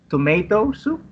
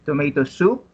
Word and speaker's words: tomato soup: So the stress falls on the second word on each phrase. So you don't say tomato soup, you say tomato soup, then roast beef.